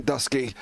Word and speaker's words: Dusky: Harrison Dusky, as he informed me last week when I spoke to him, and that's how we apparently pronounce his last name.